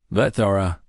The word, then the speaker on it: Vethara: "Vethara," he said, and he pronounced her name perfectly, with the soft click in the middle that most non-Cathrani could never manage.